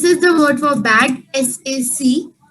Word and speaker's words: sac: This is the word for bag, S-A-C. It is pronounced as sac. In this, the last Sac. letter is also pronounced sac.